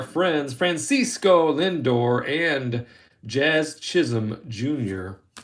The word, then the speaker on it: Chisholm: There's our friends Francisco Lindor and Jazz Chisholm Jr. I don't try to pronounce the L. I think that's actually how you're supposed to do it, is throw an L in there.